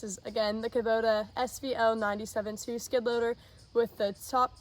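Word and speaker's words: SVL97-2: do you pronounce it 97-2 yeah okay guys so I said it was the Kabota svl 972 but it's actually the cabota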